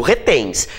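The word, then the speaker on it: reténs: Eu digo retens. Então a sílaba tônica é o tens.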